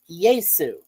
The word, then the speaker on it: Yesu: you were, you know, speaking in Hebrew or Aramaic, it would be Yesu. And so, it would be it would be Jesu, but you would pronounce the J as like a Y.